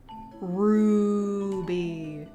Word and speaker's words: Ruby: Ruby. Also, Little Red Riding Hood. Very funny. Stella, you never say my name right. It's Ruby. You gotta say it with the roo. Like a roo. A roo.